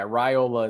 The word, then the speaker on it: Raiola: my mind a bunch of times, but yeah, Raiola is what I was told. I saw on a message board somewhere, almost like a PSA, like, hey, just so everybody knows it's Raiola.